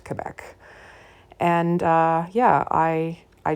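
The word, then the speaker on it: Québec: right through grade 12 and I know it's pronounced Quebec and not Quebec so uh sorry about that earlier in the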